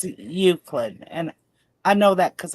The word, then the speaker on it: Euclid: It's pronounced Euclid, and I know that because I understand the English language.